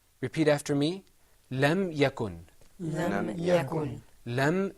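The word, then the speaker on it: لم يكن: okay very good let's look at another example lam yakun in the Quran this is pronounced lam yakun repeat after me lam yakun then I'm ya goin lam yakun ok I'm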